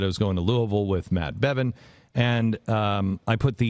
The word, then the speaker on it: Louisville: the love of pete i can pronounce louisville not lewisville um and so i